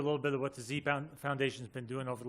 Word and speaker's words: dZi: our work over in Nepal so it is pronounced z um I went there to climb I went